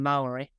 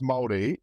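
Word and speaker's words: Māori: I'm trying to learn Maori oh wow well I mean you're off to a bad start because it's pronounced Maori uh I think so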